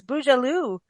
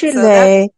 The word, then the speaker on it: Beaujolais: No, it's Beaujolais Nouveau. It's bougie. Well, depends on whether you're French or not. Yeah, so that's Beaujolais bougie.